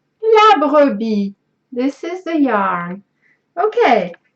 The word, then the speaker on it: La Brebis: La Brebis. La Brebis.